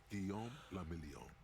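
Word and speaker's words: Guillaume Le Million: Guillaume Lamillion. Uh-huh. If it doesn't rhyme, you're not pronouncing it right.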